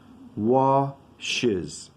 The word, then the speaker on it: washes: Washes. Oh, this word is so difficult here. It sometimes sounds like watches, but this is wash is washes.